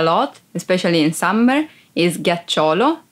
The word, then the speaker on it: ghiaccio: Ghiaccio. Ice. Ghiaccio. Ice. Be careful because if you don't pronounce G as an hard sound like G, it would be giaccio, that it's a verb and means lie down.